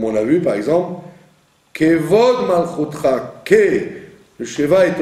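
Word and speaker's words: כבוד: Il ne faut pas dire Kvod, il faut dire Kevod, puisqu'il est au début d'un mot. Donc au début d'un mot, le Sheva se prononce presque comme un E.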